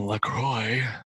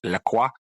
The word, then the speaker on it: La Croix: I that drinking distresses me because I'm fairly certain I remember enough high school French that they should be pronounced La Croix, but nobody fills me in on that.